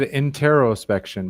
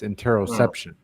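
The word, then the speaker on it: interoception: And I said it wrong. I said interospection, but it's interosception.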